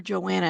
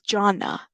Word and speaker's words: Jonna: I'm gonna figure it out because we were calling her Joanna, and that is not her name. It's Jonna. Jonna Wilson. That's how you say it.